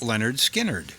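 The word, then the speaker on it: Lynyrd Skynyrd: from the 1973 album pronounced leonard skinnard my name is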